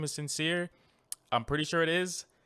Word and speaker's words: Syncere: than christopher sincere's ep sincere and that is spelled like his last name sincere let me get it right it is s-y-n-c-e-r-e and actually now that